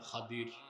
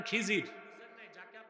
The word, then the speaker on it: খাদির: আলেম আমার এক বান্দা তার নাম খাদির খাদির তো বুঝেন নাই যাকে আপনারা বলেন খিজির উনার নামটা কি আমরা বলি এটা ভুল উচ্চারণ শুদ্ধ উচ্চারণ কি?